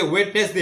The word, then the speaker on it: Wednesday: tamo Wednesday सबसे important Wednesday ni pori actually Wednesday ya inka O D silent kana amke taung